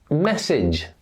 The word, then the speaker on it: message: When words end age in English, look at these examples. Message, village, garage. Do you hear? It's the idge sound that we use at the end of these words.